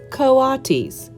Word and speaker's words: coatis: These are coatis, Mrs. Brisbane said, reading from the letter. Pronounced coatis.